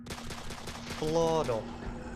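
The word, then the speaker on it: floro: you remember so how do you say flower Flor Flor and do you remember how to say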